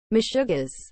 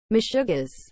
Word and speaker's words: meshugaas: what is the meaning of the word meshuggaz as a noun yiddish craziness senseless behavior or activity meshuggah's is spelled m e s h u g a a s meshuggis